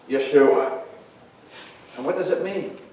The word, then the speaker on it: Yeshua: people from their sins Jesus is actually the Greek form of the Hebrew name joschwa work more properly pronounced Yeshua and what does it